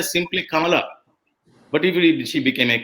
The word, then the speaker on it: Kamala: all that that is not the way we pronounce we say simply come along but if she became a kamala c with